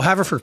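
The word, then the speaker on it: Haverford: last week where did you ask how about haford is that right right hord oh haford Pennsylvania you guys Main Line we're just keeping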